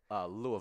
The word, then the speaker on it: Louisville: Everyone say Louisville.